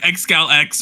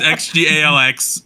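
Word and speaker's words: XGALX: listened to this song I thought it was like xcal X or something but no it's xgx uh as you know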